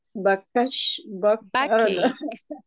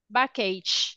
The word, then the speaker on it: backache: Backache. Backache. Backache. Remember, Backache. guys, that we don't say ch, backache. No, we say Backache. k, backache.